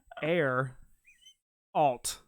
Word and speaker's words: Geralt: text he said Gerald like the human named Gerald or Geralt like The Witcher then he said hard G err alt Gerald get out of